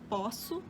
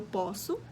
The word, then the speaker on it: posso: o verbo poder né eu posso e a palavra né o poço eu não conseguia pronunciar de forma diferente outras outras palavras que